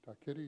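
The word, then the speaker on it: Takiri: This portrait of Te Tore Takeri, and I'll just spell it for you, Te Tore, T-I-T-O-R-E, and Takeri,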